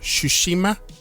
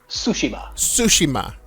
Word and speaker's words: Tsushima: this one ghost of sushima sushima so i guess the tea is silent yes i never understood